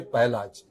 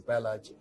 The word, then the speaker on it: Pahlaj: So Prahalad is a Jor Shabd. Raha is a Jor Shabd. So we say Pahlaj. Prahalad is pronounced as Pahlaj.